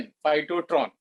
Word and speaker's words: phytotron: Spelling है PHYTOTRON, फाइटोट्रॉन।